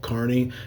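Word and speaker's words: Kearney: nebr I finally got it right it's called Carney it's not spelled Carney like a like a carnival it's spelled like k e a r NE y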